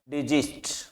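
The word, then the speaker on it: desist: इसे आप से में पढ़ के जे का उच्चारण करें। जो फर्स्ट एस है इसके साउंड जे का है डिजिस्ट और इसका है जो से का उच्चारण है। तो प्रोनाउंसिएशन में ध्यान रखें।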